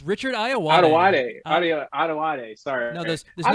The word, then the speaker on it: Ayoade: It's Richard Ayoade. Ayoade. Sorry. No, there's I'm no a terrible pronouncer.